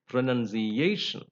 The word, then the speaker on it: pronunciation: capsize next rule is words ending in IO n are stressed on the last but one syllable uh for example